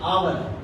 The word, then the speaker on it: hour: सर इसमें जो एच है वो साइलेंट है, उसकी वजह से ओ की आवाज आती है।